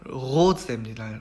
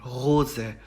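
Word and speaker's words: Rose: 첫 번째 나온 단어 같은 경우는 로제입니다. 로제.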